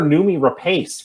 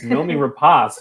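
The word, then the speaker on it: Noomi Rapace: That is the way you pronounce it. I've been calling her Nomi Rapace for so long, and it's Nomi Rapace.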